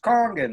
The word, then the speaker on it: kangen: right I always just it's pronounced kangen that beautiful angel that's inside the little lightning bolt in a box she doesn't say King in water she says Kong in water if she said kangen water 9.5 then guess what